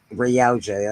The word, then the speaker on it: Yautja: And in Jordan Morris' story, blah, blah, blah, I don't know how to pronounce that, Warrior stalks one of Earth's greatest fighters. Yautja. Yautja, that's it.